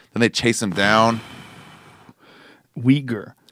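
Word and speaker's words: Uyghur: they chase him down weager the way it's spelled it's a very unusual it's spelled u y g h u r wow I would not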